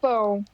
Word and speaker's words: pão: Não, mas está boa a pronúncia do seu ão. Agora você falou certo, pão.